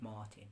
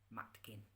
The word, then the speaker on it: Matkin: by the name of Martin. It's actually Matkin is the name. It's the way it's spelt in Dutch language.